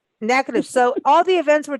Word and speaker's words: Natchitoches: last month about the 43rd annual Natchitoches NSU Folk Festival.